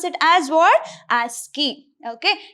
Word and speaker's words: ASCII: So we have to pronounce it as what? ASCII. Okay, ASCII.